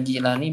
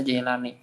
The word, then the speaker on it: Jilani: yang kita dengarkan Al-Jailani, tapi ketika saya baca itu di mana itu bacanya itu bil kasri, tapi boleh juga bil fathi, jadi bisa Jilani bisa Jailani.